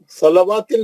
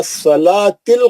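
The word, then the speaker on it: الصلاة: मुकामदा माशा्लाह इसमें बहुत सा गलतियां है ना सलवािल नहीं पढ़ना वो वाऊ साइलेंट है व सलातिल कायमा सलवा नहीं वाऊ देखिए वाऊ पे कुछ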